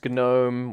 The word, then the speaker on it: GNOME: So there's like X11, there's Gnome, which is how it's actually pronounced, and there's Wayland.